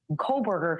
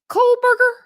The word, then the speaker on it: Kohberger: It's more a matter of Colberger trying to Oh, how does she pronounce his last name? Coberger.